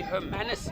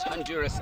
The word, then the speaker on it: Hermanus: It's actually Hermanus, not Honduras, as rightly pointed out by his teammates on the bench.